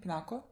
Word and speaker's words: Pinako: a flashback to when him and peanut pipinako pronounced her name pinako when the two of them were drinking but